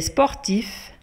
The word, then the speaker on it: sportif: Elle est sportif. Elle est sportif. Yani huwa riyadi qui imers riyada. Le mot d'accord n'a qu'un sportif. Se prononce avec F à la fin ou quand on a F.